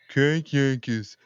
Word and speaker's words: Crank Yankers: it's not you gota say it right dude Crank Yankers I got M I got M that's a